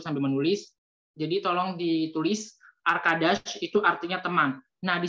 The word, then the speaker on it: arkadaş: A, seperti biasa, A, arkadaş. Jadi, di dalam bahasa Turki, pelafalan huruf A itu sama seperti bahasa Indonesia, A.